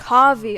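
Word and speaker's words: Kaveh: You're the renowned Kaeya, light of the Kavi. sun. Okay, so I've been saying his name wrong.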